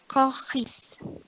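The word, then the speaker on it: choriste: Pokoknya itu tetap dibaca K, C-nya dibaca K gitu. Jadi kohal. Terus kohis.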